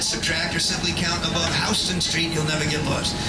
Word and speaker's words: Houston: a sign, add, subtract, or simply count above Hston Street, you'll never get lost. And please remember, in New York, it's Hston, Texas, the same word is pronounced Houston.